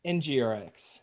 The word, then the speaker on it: NgRx: NgRx.